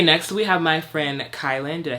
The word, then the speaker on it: Kaelin: Okay, next we have my friend Kaelin. Did I say it right? Kaelin? No. Kaelin.